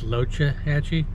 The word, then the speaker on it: Loxahatchee: loxahatchee river which he it's pronounced locha hatchi i guess that's how the native americans pronounced it so locha means turtle